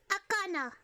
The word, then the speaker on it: Akana: It's akana. Kana is a chicken in Finnish.